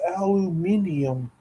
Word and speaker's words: aluminium: So in anticipation, you didn't say it right. It's aluminium.